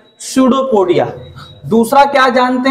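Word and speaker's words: pseudopodia: स्यूडोपोडिया। इट इज नॉट पसूडोपोडिया, पी he silent है।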